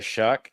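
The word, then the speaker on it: Shough: Uh, the New Orleans Saints did get Tyler Shuck. That's spelled with a gh for those of you who hate the American English language.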